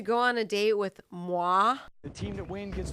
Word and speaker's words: moi: I wish Bret really leaned into like the Pennsylvania and was like, you get to go on a date with Moy. It's like, oh, it's pronounced moi.